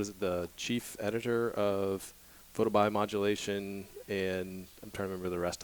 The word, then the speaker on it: photobiomodulation: then the broader term has got referred to photobiomodulation or PBM even for short can you say